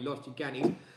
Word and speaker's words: Los Gigantes: other end, just near Los Gigantes, as it's pronounced properly, Los Gigantes.